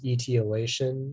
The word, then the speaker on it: etiolation: hold the information yeah the only pronunciation is etiolation it's a noun and it's